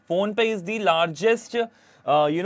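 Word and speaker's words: Fonepay: a deal with the phone pay phone pay is the largest uh you know payment Network in Nepal it's not a phone pay it's spelled differently but uh it's uh pronounced the same way so it's the largest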